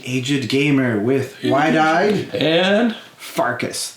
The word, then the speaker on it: Pfarcus: The Aged Gamer with Widied and Pfarcus. The P is silent.